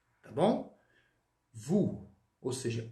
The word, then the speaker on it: vous: Vous. Tá bom? Vous. Ou seja, ou no francês, pessoal, sempre som de U.